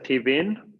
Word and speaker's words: TV:n: Se pronuncia TV:n, pero se escribe así.